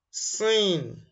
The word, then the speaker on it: س: The sound is C, as in sink, spoon. And sin is number 12 when arranging the Arabic alphabet in orderly. Sin comes out when the